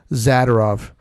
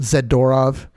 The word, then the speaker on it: Zadorov: about was zadov uh for some reason everybody calls him zorov which I highly disagree with the pronunciation of his name we don't say fed F fedorov we say federov so I I figure if we say zadov it's not zadorov anyways yeah maybe we